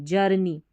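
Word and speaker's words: journey: आवर, आवर, जर, JOUR जर, और नी, NEY नी, जर्नी, जो हमारी जर्नी है,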